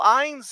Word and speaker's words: Innes: But then Neil Innes is also performs. You guys pronounce it Innes or Innes over Innis, there? Innis. Innes. Innis. Innis, Yeah. Okay. Innis.